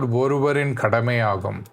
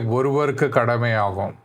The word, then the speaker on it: ஒருவரின் கடமையாகும்: What did you saw is like I mispronounced the word oruvarin kadamayagum. So first time I said like oruvarku kadamayagum.